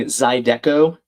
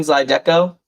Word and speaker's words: zydeco: Oh, am I mispronouncing Zydeco? That's what Haley's suggesting. Zydeco. Zydeco. Zydeco. Oh, my bad.